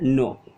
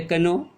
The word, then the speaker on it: know: देते हैं, देखिए एग्जाम्पल, KNOW, इंग्लिश में आइए, ये क्या कहा जाता है? इसको हम बोलते हैं क्या? नो। जबकि हम शुरू किए थे, स्पेलिंग किससे शुरू किया गया? इससे शुरू किया गया, के से। ये तो होना चाहिए कनो, लेकिन नहीं बोलते हैं।